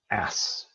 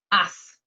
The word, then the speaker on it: Ass: And finally, only because I've got the translation below, is ass. It's not an English word. It's an English word. Would mean donkey or something It's else. not. It's the ace. Is the pronunciation correct? Ass.